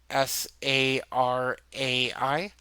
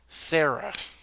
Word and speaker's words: Sarai: For people that have never seen the name Sarai, Sarai, they're going to assume it's pronounced Sarah.